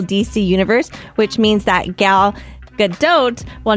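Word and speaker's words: Gal Gadot: She says it very ethnic. Galadote. That's how she says it.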